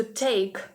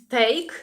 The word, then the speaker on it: take: англійській мові від українського це не тейк не тутейк а Take To Take take ми вимовляємо його з придихом якщо ви знаєте що